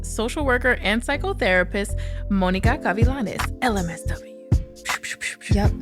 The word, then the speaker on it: Gavilanes: worker and psychotherapist Monica cavilanes lmsw yup I love how you say my name very nice thank you I try to give it just enough Spanish if you notice when